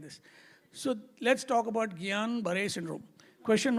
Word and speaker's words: Guillain-Barré: Okay, so the N is not silent. Why should the N be silent? N is both important. So it is not silent. Guillain-Barré, it's called Barré syndrome.